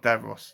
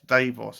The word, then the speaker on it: Davos: also been reading about Davos or DeVos no no not DeVos Davos I think it's said say his name Davos is the Vining